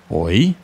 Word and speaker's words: hoy: So, in Spanish, to say today, we would say hoy. It's pronounced just like how when us Brits try to grab someone's attention by saying hoy, hoy mate, hoy.